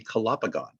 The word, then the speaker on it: Calopogon: But if it was a real Latin word, it would be calopogon. Calopogon. Yeah, so that's the classical Latin pronunciation.